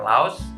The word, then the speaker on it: Laos: There are Laos, Chinese, Slovakian, Dutch or Netherlands, Mexican, and obviously Hungarian. One trivia about Laos, it is pronounced Lao by locals.